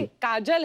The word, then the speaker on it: काजोल: काजल है ना, but काजल होता है, काजोल हाँ, मतलब बंगाली में काजोल। बंगाली में बंगाली में ऐसे उसका प्रोनाउंसिएशन है पर सर।